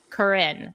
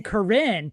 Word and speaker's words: Corinne: And he set up his home base and lived for a while in Corinne. Am I pronouncing that correctly? As someone whose ancestor lived in Corinne and is in the famous picture of the